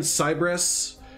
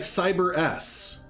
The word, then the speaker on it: Cyberus: Cyberus. Like, I've been saying Cybrus. Estan says Cebrus, I think, but it's actually like Cyberus, and I just feel